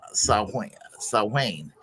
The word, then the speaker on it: Samhain: But holiday is rooted in an annual Celtic pagan festival called Samhain, pronounced Samhain.